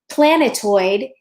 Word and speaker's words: planetoid: her tools and sprockets planetoid actually the the heaviest stress is on the first syllable but the second heaviest stressed is on the third syllable and that's why it works for iambic meter so it's it's certainly